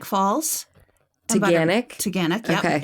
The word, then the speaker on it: Taughannock: Add to your list Taganek Falls. Taganek? Yep. Okay. It's spelled not like that at all.